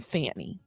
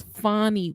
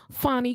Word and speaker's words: Fani: I guess this was the person that Fani, I was saying Fanny, but I guess it's Fani Willis.